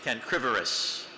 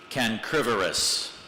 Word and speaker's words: cancrivorous: A starfish is cancrivorous, feeding on the small crustaceans usually found in tidal pools. What's the origin of the word? That would be Latin. Can you repronounce the word, please? Cancrivorous. Cancrivorous.